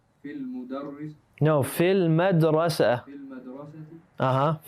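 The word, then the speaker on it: في المدرسةِ: fil madrasati. Fil madrasati. We don't pronounce the ya on fi, and we don't pronounce the lam or the alif on al madrasa.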